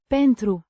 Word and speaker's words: pentru: pentru, A preposition meaning because or for, pronounced pentru, with the stress on the first syllable.